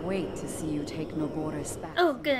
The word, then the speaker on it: Naboris: I can't wait to see you take Narboris back. Oh, good, I did pronounce it right, Narboris.